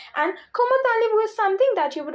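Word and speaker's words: comment allez-vous: not be pronounced as comment allay vu but it will be pronounc pronounced as kumalu why because in French last consonants are silent so s is silent zed is silent now why tal why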